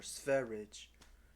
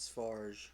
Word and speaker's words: Spherage: Yes, Godus or Spherage. Spherage. Spherage. Spherage. Not Sfarge or whatever. Some people pronounce it that. It's terrible. Spherage.